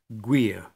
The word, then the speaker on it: gwir: GU before a vowel is like GU in language or anguish. Examples, gwir, true, gwethan, tree.